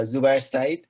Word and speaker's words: Zubayer Sayeed: for having me here um i'm zubie uh zubair side from bangladesh so it's very difficult to pronounce my name in in japan so i